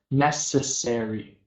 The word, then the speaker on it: necessary: So just necessary.